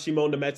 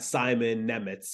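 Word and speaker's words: Šimon Nemec: knew how to exactly he knew how to pronounce Shimon the Mets his name before the actual New Jersey Devils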